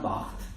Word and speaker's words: Barthes: Yo digo Barthes, pero Julio ayer lo pronunció bien y ahora me da una vergüenza. Roland Barthes.